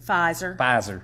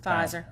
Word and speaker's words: Pfizer: be only that drug that how do you pronounce it pfizer pfizer okay so it would be just pfizer and